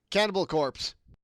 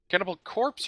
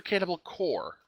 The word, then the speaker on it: Cannibal Corpse: Cannibal Corpse or Cannibal Core? Corpse. Corpse, as in dead body. Gotcha. Because I know a lot of people that pronounce the one as the other, and I feel like slapping them.